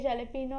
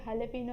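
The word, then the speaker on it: jalapeño: वो लिखते जलेपिनो है एंड बोलते हलेपिनो है.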